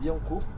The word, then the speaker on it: Billancourt: Donc là, on arrive au premier arrêt qui est Billancourt. Si je dis pas de bêtises, ça se prononce comme ça.